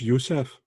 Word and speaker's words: Youssef: Did you pronounce it Youssef? Just Youssef.